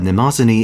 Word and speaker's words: Mnemosyne: If I'm reading this pronunciation guide right, apparently that's how you say it. Normally, event final bosses tend to be pushovers, but Mnemosyne is closer to the Kiara Kama end of the spectrum.